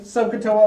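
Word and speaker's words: SOHCAHTOA: trig is called socato you gotta get you got to get the pronunciation out so Cato socato nope so you'll hear me say sokoto a lot that's how we'll communicate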